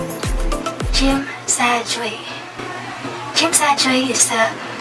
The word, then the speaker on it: Tsim Sha Tsui: Then we rode a bus going to, it's pronounced as Tsim Sha Tsui. Tsim Sha Tsui.